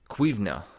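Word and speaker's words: cuimhne: They had to be a master of cuivna, that's how you say it in Gaelic.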